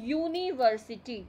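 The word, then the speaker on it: university: लेकिन जब हम इसको प्रोनाउंसिएशन कर रहे हैं यूनिवर्सिटी, तो ये कैसे आ रहा है? यूनिवर्सिटी, यू आ रहा है. तो यू जो है वो अ से अंगे खाली के बीच में नहीं आता.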